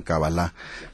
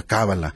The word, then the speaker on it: Kabbalah: Ahora que usted menciona y que estoy escuchando que ellos pronuncian Kabbalah, nosotros le ponemos el acento y decimos el esdrújula Kabbalah.